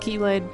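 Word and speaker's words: χ-blade: I know it says weird little X mark instead of a key, but it's pronounced Keyblade.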